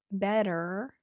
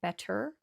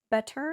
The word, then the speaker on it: better: And it's easier to use a flap T, better. I know that's a double T and it looks like you should say better, Better is fine, but it's very formal.